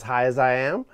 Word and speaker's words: Azhiaziam: in moral B and it's pronounced as high as I am which uh we Market